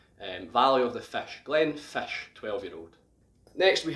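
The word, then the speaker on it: Glenfiddich: a picture up now the first part we already know is glenn which in gaelic means valley now the next part of this it's pronounced as it looks almost but the ddi ch at the end is more of a sh sound so it's pronounced glenn fish glenn fish and this is because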